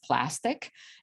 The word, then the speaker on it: Plastiq: One of them is Plastic, and the other one it's Melio Payments. So Melio Payments, and Plastic is spelled as Plastiq.